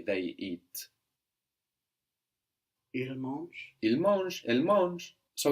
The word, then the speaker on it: mangent: So if we remove our er and we put ent, as the ent is not pronounced when it's on the end of verbs, it's just going to make us hear that last consonant.